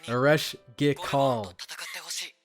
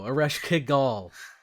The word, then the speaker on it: Ereshkigal: I always say her name wrong. Ereshkigal. No, Ereshkigal. It's K then G.